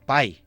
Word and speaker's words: Pi: Perquè, una altra cosa, Pi es pronuncia com algo així com pai, o algo així en anglès.